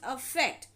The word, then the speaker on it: affect: known as effect and effect with the a is called affect now meaning change or